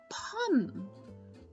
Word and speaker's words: pomme: Apple in French is pronounced pomme.